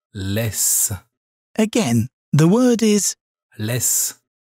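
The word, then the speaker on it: laisse: leave which in french is less this word pronounced more slowly sounds like less again the word is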